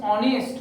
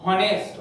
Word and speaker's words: honest: The proper pronunciation is honest, not honest.